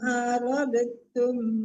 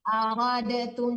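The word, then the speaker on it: أردتم: Ibu kan bacanya aradatum, jangan aradatum, aradtum. Nggak boleh dipantulkan dalnya, langsung ditekan ke ta.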